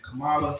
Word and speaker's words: Kamala: Today we'll go into how, Joe Biden and Kamala Harris, how do you say her name? Kamala.